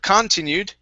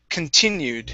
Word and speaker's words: continued: last one is continued the stress is on that i okay instead of continued it's continued continued awesome okay nice job